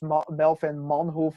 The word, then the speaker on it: Melvin Manhoef: It's Melvin Manhoef, Bas Rutten. You know, the Yeah, guys from the Netherlands always get their name pronounced wrong by English speakers.